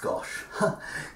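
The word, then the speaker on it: gâche: at the guernsey gosh which isn't spelt gosh but it is pronounced gosh gosh i hear you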